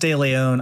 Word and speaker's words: De Leon: You know, when I was a kid, it, you know, De Leon, it's pronounced De Leon. I think folks can handle three syllables, to be honest with you.